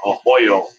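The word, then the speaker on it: Arroyo: make a statement and antonio uh ahoyo as they they pronounce this oh yeah um is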